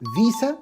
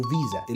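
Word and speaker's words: Visa: بيقولوا عليه اتش بي بالمناسبه الكلمه دي انت ممكن تنطقها نطقين والنطقين صح فيسا او فيزا الاثنين تمام ما فيهمش مشكله البسكوت بقى الغالي قوي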